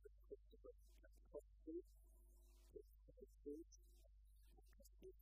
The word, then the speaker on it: Katkowski: My name is Christopher Katkowski, King's Council. Katkowski is spelled K-A-T-K-O-W-S-K-I. Three Ks in it, it's all very scary, but phonetically it's Kat-K-O-F-S-K-I. So you cough in the middle and you'll be fine.